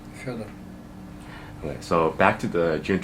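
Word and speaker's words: Фёдор: For the record, how is your first name pronounced? Федор.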